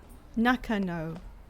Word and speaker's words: Nakano: I'm still getting really confused by the layout of this place, which I have been mispronouncing this entire time, which is real bad. Nakano.